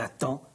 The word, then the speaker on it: attend: Mais le D ne se prononce pas. Elle attend, elle entend, elle apprend, elle comprend.